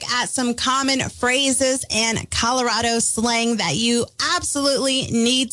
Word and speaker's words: Colorado: this because I say Colorado and the correct way to pronounce the state is Colorado because Colorado is so rad that is apparently the reasoning behind it I don't know if